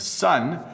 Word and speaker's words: sun: born to you so they're the same pronunciation sun and sun we say them exactly the same way next one let's see